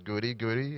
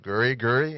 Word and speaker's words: Goody Goody: his dj name is goody goody and i said guri guri and he said no no goody goody and you know it's